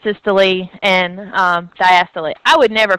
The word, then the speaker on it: diastole: want to but you just usually hear it pronounced systole and diastole I would never correct you if you said